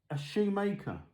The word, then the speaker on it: Schumacher: specifically RC cars, and when they mention Schumacher, they pronounce it like that. And it stands out when you think, oh, hang on, a Shoemaker. Anyway, I'm sure it'd be interesting to have your views on that.